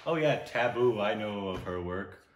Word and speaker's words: Tabu: it be table table table oh no it's taboo I'm what I think but I thought somebody